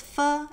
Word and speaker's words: ㄈ: The last labial initial is fu as in fun game without the ungame.